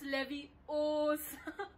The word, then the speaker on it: Leviosa: It's Leviosa.